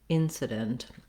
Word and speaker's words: incident: doesn't matter too much you just want to be very short and have a reduced vowel there incident and then uh we have the same spelling as the word dent here but in incident we don't use that uh true vowel like the word dent so you might see